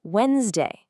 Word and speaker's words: Wednesday: Who actually pronounces that first D? Nobody. It's Wednesday. Same goes for handsome and sandwich. We say handsome and sandwich. The D just completely vanishes.